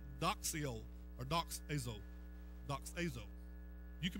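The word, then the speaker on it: δοξάζω: It comes from a Greek word called doxio or doxazo. Doxazo. You can pronounce it ever how you want to.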